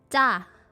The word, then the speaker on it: 짜: And it's 짜. Like 짜. Very strong J sound.